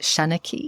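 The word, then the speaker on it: seanchaí: And it's the Irish word, is it shanachie? Mm-hmm. Am I pronouncing it?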